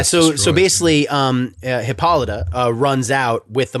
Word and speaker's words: Hippolyta: box and all hell breaks loose uh so hipoltia hipolta how do you say her name oh that makes sense now reading is fun hippolyta is on the scene queen of the amazons